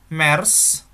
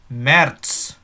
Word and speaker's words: März: Ingat, bukan Mers, nein ya, tapi März. Jadi karena Z itu kan ada kayak TT-nya gitu, jadi bacanya März.